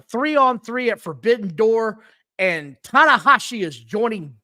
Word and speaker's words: Tanahashi: They said they're going to have a 3-on-3 at Forbidden Door, and Tanahashi is joining. Not Daddy Ass. It's Tanahashi, but another Japanese guy.